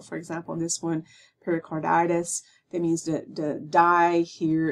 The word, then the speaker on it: pericarditis: a phonetic spelling in parentheses, and the stressed syllables are always in capital letters. So for example, in this one, pericarditis, that means the die here is capitalized.